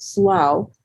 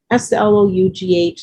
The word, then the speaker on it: slough: This is a low-lying area, I pronounce it Slough, but maybe it's pronounced a little differently. I had a discussion with someone the other day. Slough, low-lying area, and it will flood.